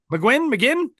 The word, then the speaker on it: McGinn: We're going to call him McGuinn? McGuinn? McGuinn.